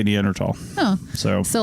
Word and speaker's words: Neanderthal: talking about the people neander tals you say neander tall oh so so like